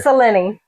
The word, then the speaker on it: Selene: 3 syllables, because Not Celine. I'm looking for canon Princess here. Selene.